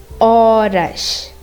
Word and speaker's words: horas: Whenever you have an H in front of any word, you're not going to pronounce it. For example, horas. In horas, you don't say horas, you say horas, because you're not pronouncing the H, because the H is silent.